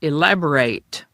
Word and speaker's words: elaborate: As an adjective, one uses elaborate when emphasizing detailed intricacy or complexity. As a verb, it's pronounced elaborate and means to explain or describe something in more detail, to expand upon.